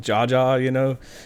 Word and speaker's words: JA: I was always kind of skeptical about Jaja. Yeah, that's like a shout out to me. Like they didn't know it's JA. Yeah, so they're saying Ja. Just pronounced it wrong.